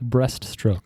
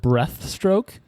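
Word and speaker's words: breaststroke: it like that well some people call it breath stroke and Oh I thought they would have said breath stroke that is uh irksome to me 200 200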